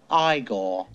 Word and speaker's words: Igor: No, it's pronounced Igor.